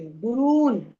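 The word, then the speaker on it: गुरून्: गुरून गुरून नहीं बोलेंगे गुरून क्योंकि र पर दीर्घ उ है।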